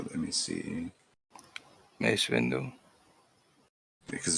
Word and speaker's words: Mace Windu: Mace Windu. Because it's not, and it's not Masonic. It is Masonic. It sounds like mace because it is the same word.